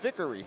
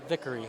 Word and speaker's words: Vickery: Is that how I say it? Vickery. Vickery. Hey, I like it. Rhymes with victory.